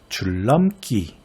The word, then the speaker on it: 줄넘기: 네, 줄넘기 이렇게 되죠. 앞에 있는 리을이 뒤에 있는 니은에 영향을 줘서 리을로 바뀌었으니 순행동화가 맞죠.